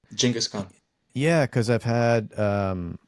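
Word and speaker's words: Genghis Khan: Ah, I noticed I have to say I noticed you even said Genghaskhan's name the way that I think it's supposed to be pronounced, which is you say it again. Jenaskhan.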